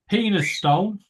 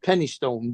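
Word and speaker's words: Penistone: never thong never wallet penis Stone yeah I know about penis Stone oh yeah yeah ping actually pronounced Penny Stone but I know that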